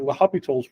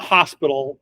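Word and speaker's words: L'Hôpital: so leop leop or laop's rule it's not Hospital even though it's spelled Hospital the S is silent and there's actually no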